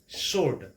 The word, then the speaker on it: sword: শুদ্ধ প্ৰনাউন্সিয়েশ্যনটো হ'ল সচে সচে we have to pronounce like this next number 8 it's a very common word sword আমি তেনেকৈ প্ৰনাউন্সিয়েশ্যন কৰোঁ কিন্তু এই শব্দটোৰ ক্ষেত্ৰতো